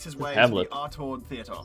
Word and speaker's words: Artaud: the Artaud Theater. So you gotta pronounce it with a French accent. Artaud.